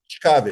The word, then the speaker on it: ciekawe: Ciekawe. Ciekawe.